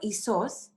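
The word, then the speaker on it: Ἰησοῦς: Jesus एक English word है और इसका जो प्रोनाउंसिएशन है वो ईसोस, और ये एक्चुअली ग्रीक में कहा जाता है जोशुआ।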